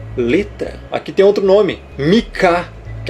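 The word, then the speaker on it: Micah: Em inglês, Mika. Você vai falar o Mi e o Kar.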